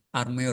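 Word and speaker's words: Armauer: Armeur Pak bacanya gitu.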